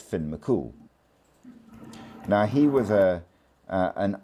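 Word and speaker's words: Fionn mac Cumhaill: C U M H A I L L pronounced Finn Mcool.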